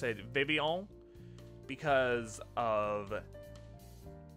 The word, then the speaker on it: Vivillon: But yeah, I always pronounced it like that because that's kind of like a French-ish thing to have, like...